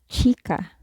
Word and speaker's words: chica: in the Spanish alphabet is CH so as in sure as in child in English or Richard say for example chica which means girl the next letter is